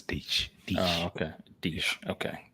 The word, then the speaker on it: Diesch: Deitsch. Diesch. D-I-E-S-C-H. Guessing that's Dutch. Yeah. But they signed him to the practice squad. I'm a third Dutch, so yeah, that's Deitsch.